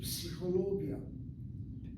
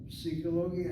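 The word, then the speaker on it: פסיכולוגיה: So when a word like psychologia has 1 syllable, psi, ho is the 2nd syllable, lo is the 3rd syllable, gi is the 4th syllable, ya is the 5th syllable. 5 syllables from psychologia, and syllable number 3 is accented.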